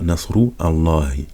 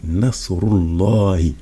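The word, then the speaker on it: نصر الله: donc on dit pas Nasru Allahi. Donc on dit Nasrullahi. Parce que là, ici, c'est un Hamzat Wasl.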